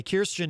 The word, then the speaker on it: Kirstjen: her first name uh correctly the other day kirstjen nielsen rather kirsten gillibrand of course is a senator running for president uh christian christian or kirstjen jill uh i almost did it again kirstjen nielsen uh is out of course at uh